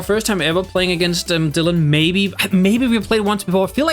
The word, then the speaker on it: Dillan: It's spelled D-I-L-L-A-N, and I believe it's still pronounced Dillan the same way as D-Y would be.